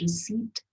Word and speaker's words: receipt: pretty strange isn't it there's a p there so I don't think that's the right answer do you when I pronounced the word I said receipt here's the next one